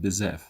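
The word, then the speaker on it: بزاف: For example, the word very in the Egyptian slang pronounced awi, while in the Moroccan slang pronounced bezaf, and in the Tunisian slang pronounced barsha.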